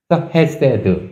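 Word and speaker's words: חסד: 이거는 액은 S 오시라 그랬잖아요 거기다 똑같이 애 발음 나니까 세 그렇죠 그다음에 맨 끝에 아무것도 없으니까 그냥 디귿 바음 그대로 드 해세드 이렇게 되는 거예요 쉽죠네 여기까지 그냥 기초 쉬워요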